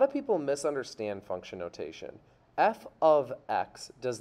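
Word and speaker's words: f(x): y we write f parentheses x which is pronounced f of x so we would pronounce this f of x equals 2x where f is the name of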